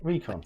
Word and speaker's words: Recon: Recon. Much better. Because it's from reconnaissance.